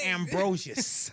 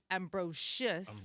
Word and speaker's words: Ambrosius: Ambrosius.